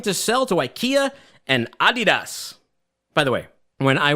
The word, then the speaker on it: Adidas: And then because they're a client, to be polite, I would say Adidas. And it's good to pronounce things the right way. I don't need to Americanize everything.